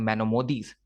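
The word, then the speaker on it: Maimonides: और जो मैनोमोदीज हैं, इसको हम इस तरह से प्रोनाउंस करते हैं, मैनोमोदीज, ये स्पेन के रहने वाले थिंकर्स थे।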